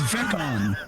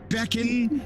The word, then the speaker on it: Veon: It is Veon. Veon, not Beckan. Not Pecan. It's Veon.